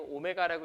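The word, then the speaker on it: ω: 특별한 이차방정식의 한 허근을 W 아니고 오메가라고 읽는다고 했죠 그리스입니다 그리소 a 알파랑 다르듯이라고 읽으시면 안 되고 오메가라고 읽으셔야 돼요 대로 이렇게 쓴다라고 했죠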